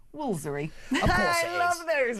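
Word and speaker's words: Woolfardisworthy: Apparently, it's pronounced Woolsery.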